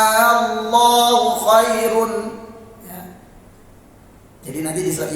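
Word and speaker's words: آللَّهُ: Kata Allah tadi A-nya panjang. Hati-hati ya, kalau baca ayat tersebut yang salah ya, itu masuknya mad lazim, bacanya Allahu khairun ya.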